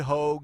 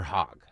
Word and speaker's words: Hogg: Is it Hogue or Hogg? I think it's spelled H-O-A-G, but I think it's pronounced Hogue. No, it's H-O-G-G, isn't it? Yeah, but I think it's pronounced Hogue. Oh, okay. Like hoagie without the E on the end.